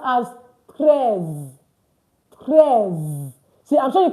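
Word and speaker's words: treize: 13 is pronounced as prayers.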